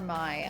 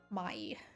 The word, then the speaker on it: Mai: I feel like I'm supposed to pronounce it in the Japanese way. I think that's how May spells her name in Avatar, though. Mai.